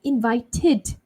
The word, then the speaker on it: invited: That's when we actually finally we say id, right? Id. So invite, okay, invited, invited because we end with t.